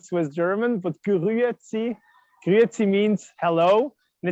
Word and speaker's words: Grüezi: It's called Grüezi. It's difficult to pronounce if you're not Swiss German, but Grüezi.